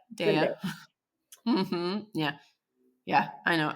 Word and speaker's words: Zendaya: Zendaya. Zendaya.